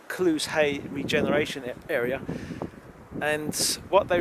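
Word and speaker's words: Clusehey: There's an area just down there which is called Clues Hay. It's an odd name. It's spelled C-L-U-S-E-H-E-Y.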